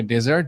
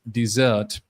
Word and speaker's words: dessert: ওকে, আমরা এটাকে ডেজার্ট বলি, বাট the correct pronunciation is dessert, dessert।